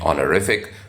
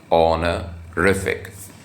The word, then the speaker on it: honorific: That is the way I'm pronouncing it, honorific. So the stress is on the third syllable, honorific.